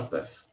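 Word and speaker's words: Paeth: Como você pronuncia o nome desse alemão? Paef? Sasha Path. Paef.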